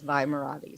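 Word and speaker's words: Vi Moradi: She's got Well, so I've heard it pronounced multiple ways, but when I read it as Vi Marati.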